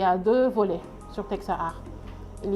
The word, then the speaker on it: Techsaart: Teksa Art s'écrit TECHSAART.uvs.sn.